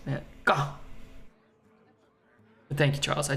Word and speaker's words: Van Gogh: It's pronounced Van Gogh.